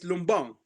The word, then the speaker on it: Lumban: It's like Lumbang. Lumban, the way pronounced Lumban is Lumbang because Right, of the pronunciation, the way the dialect was.